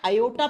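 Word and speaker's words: aorta: ओ आर टी ए इसको ओटा या योटा प्रोनाउंस करते हैं ठीक है प्रोनाउंस के समय आर को साइलेंट कर देते हैं योटा या ओटा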